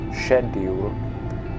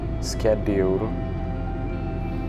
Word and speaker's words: schedule: we grew up with we use the British pronunciation which is shedule but the Americans call it schedule and I guess because